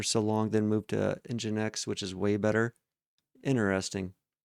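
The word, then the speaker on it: nginx: and I'll be honest, I didn't even know it was pronounced EngineX for the longest time. It's like one of those words that if you've just never heard somebody else pronounce it, like of I think it was like Injinx. I think it was in I thought it was in Jinx for the longest time, which obviously engine X sounds way cooler.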